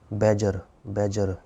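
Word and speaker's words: badger: ठीक है बच्चों, अगला शब्द जो है हमारा है बैजर। इसमें डी साइलेंट होता है।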